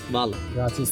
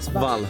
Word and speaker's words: hvala: Y luego, gracias, vala. Vala. Es Vala. ¿Qué Gracias. Como Fala. un poco. Svala. Svala. No. Vala, vala. Vala. Mira, imagínate HVA. HVA. Svala. Ajá. Svala. Por ahí va.